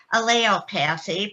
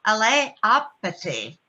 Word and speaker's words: allelopathy: pronunciation of this, and I started to call it allelopathy because people around me did. However, I also like to go online and look up the pronunciation of things. And I found it is also pronounced allelopathy.